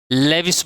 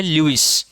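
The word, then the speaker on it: Lewis: यहाँ मैं एक बात आपको बता देता हूँ, बहुत से टीचर्स और इवन स्टूडेंट्स भी लेविस बोलते हैं इसको। उनके नाम का एग्जैक्ट जो प्रोनाउंसिएशन है वो है ल्यूइस।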